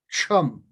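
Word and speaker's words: Ksham: will do the sound chum. Chum is spelled like K-S-H-A-M or K-S-H-U-M, like Kshatriya, Chama, things like that, chum.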